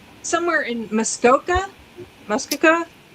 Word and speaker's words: Muskoka: Muskoka.